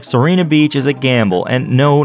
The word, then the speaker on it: Sirena Beach: Soprano Beach, Sassafras Beach, Sirena Beach, El Mio Spettatore. Seriously, though, there is no documentation of this name anywhere. Most people say Sirena Beach, as in the name Serena.